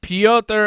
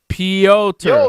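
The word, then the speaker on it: Pyotr: and russian is pronounced yo which is why piotr is pronounced that way piotr see i'm right wow leor s who's a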